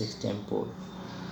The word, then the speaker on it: extempore: My class teacher said the same thing, that the exact pronunciation is extempore.